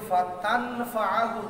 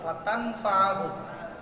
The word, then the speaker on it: فتنفعه: তারপরে নুন সাকিনের পরে ফা আসছে, নুন সাকিন কি তার মাখরাজ থেকে উচ্চারণ হবে? কোথায় চলে যাবে? ফার পরের হরফের মাখরাজে। এই জন্য এটা ছিল ফাতানফাআহু যিকরা, ফাতানফাআহু।